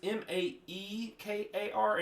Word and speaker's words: Maekar: Then you see Makar or Mirkar, however you pronounce it. Yeah, and that might have been an embellishment by the announcer guy. I was thinking about this past week. Miakar, but it's Maekar, and I've heard every